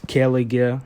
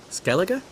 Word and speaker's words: Skellige: a safe place anymore then she pronounces kelliger badly what about skellig again just the same as season one so skellige skellige that's the way it should be pronounced in the episode geralt